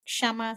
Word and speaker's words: Kshama: and for the listeners my name is shama so I know it's complicated I know it's difficult to pronounce but please try so okay with okay silent yes you know my name